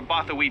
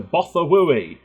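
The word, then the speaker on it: Bothawui: Move fleet to Bothawi. I think that's how they said it, but that's how it's spelt, so I'm going to say Bothawi.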